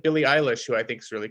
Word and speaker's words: Eilish: My girlfriend it is, insists that it's eyelash. I have no comment on that, Okay. but I'm pretty sure it's Eilish.